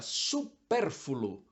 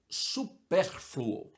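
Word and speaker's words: supérfluo: se dita beneficiente mas é beneficente outra palavra supérfulo não existe a última sílaba mesmo sendo um pouco mais complicado de pronunciar é f l u o superfluo existe ainda outra palavra que essa é cruel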